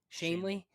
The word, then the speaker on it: Shanley: Shanley.